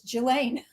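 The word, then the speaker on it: Ghislaine: But she is like, and then somebody else is saying, "No, the S is not pronounced. It's it's Gilain.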